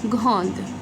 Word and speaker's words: grande: Now, here, because we have e at the end, so that e is a silent and we are going to pronounce the d. So, une fille grande.